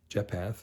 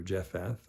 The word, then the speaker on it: Japheth: And actually, those three sons, them, the three sons of Shem and Ham and Japheth or Japheth. I've heard it pronounced different ways.